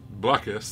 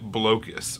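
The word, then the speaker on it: Blokus: I know, which is why I've heard people pronounce it Blocus, which to me is insanity. Because what you're doing is you're blocking people in that game. Blocus is like you're bloated with cactuses.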